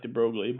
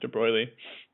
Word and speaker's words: de Broglie: uh de BR and it looks like de brogley but I think it's pronounced de Bry this guy named de